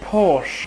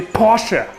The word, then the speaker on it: Porsche: i hear the name porsche a lot i will say this only once in germany we say porsche good and don't get this wrong again he has a toast to porsche here's a toaster porsche